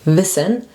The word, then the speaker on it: Wissen: That's a short I, so you say Wissen, and it's spelled with double S.